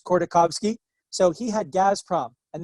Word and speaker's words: Khodorkovsky: So there's a guy named, and I can't pronounce Russian perfectly, Mikhail Khodorkovsky. I think it's Khodorkovsky.